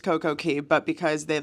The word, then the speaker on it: Coco Cay: didn't know it's actually CoCo Key but or Cast Away what or Cast Away no it's not Cast Away um it actually is pronounced CoCo Key but because they like